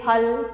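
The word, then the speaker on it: फल: you should be saying phal phool, exactly the correct pronunciation is phal phool angana, okay.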